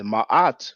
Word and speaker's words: Ma'at: a matter of fact in the name or word ma'at we have those two R sounds that's why I usually pronounce it Ma at now I don't mind